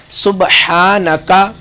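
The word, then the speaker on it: سبحانك: ہم آغاز کرتے ہیں۔ سبحانکا، ہا گلے سے نکالنا ہے۔ اگر ہم ہا سینے سے نکالیں گے، سبحانکا پڑھیں گے تو اس کا ترجمہ تبدیل ہو جائے گا، کیونکہ عربی زبان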